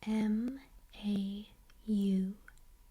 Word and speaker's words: mauve: The way I've always pronounced this word is mau. Mau. But people also pronounce it mauve. Mauve or mau.